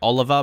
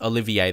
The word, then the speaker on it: Olivier: Like, Olivier Giroud, some people say I say his name wrong, like Oliver, but no, it's not Oliver, it's Olivier.